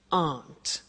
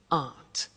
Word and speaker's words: aren't: and they aren't cheap so the difficult here is the pronunciation of a not which is Aunt okay Aunt good so that's the negative